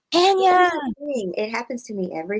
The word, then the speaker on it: Anaya: My name is Anaya. Anaya.